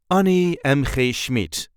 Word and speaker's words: Annie M.G. Schmidt: the correct pronunciation is Ani mmid an mmid there is not really any emphasis or Accent on her name on NE M kmid